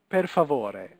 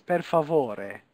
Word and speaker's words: per favore: In Italian, every letter is pronounced, okay? So this is not per favor, it's per favore, okay?